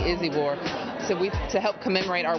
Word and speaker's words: Izibor: Everybody seems to be pronouncing her name wrong, and they corrected me, Izibor.